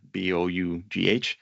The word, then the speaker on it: bough: And then there's also bow, but this one's written with a Bough.